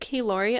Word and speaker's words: Kilori: i listen to the the audiobook and it's pronounced keylori of yuwan dwalin so